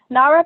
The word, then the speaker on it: NAREP: Is it NAREP? Yeah. NAREP is the National Association of Hispanic Real Estate Professionals.